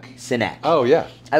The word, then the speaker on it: Sinek: Simon Spivak, is that his last name? Am I saying it wrong? Sinek.